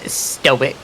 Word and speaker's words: stoic: He would say sto. He would say sto. I'll have you know I'm very stoic. It's pronounced stoic.